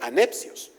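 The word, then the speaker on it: ἀνεψιός: Por otro lado, hay un vocablo específico para los primos que se llama o o se pronuncia anepcios. No es lo mismo adelfos que a necios, como no es lo mismo hermanos que primos.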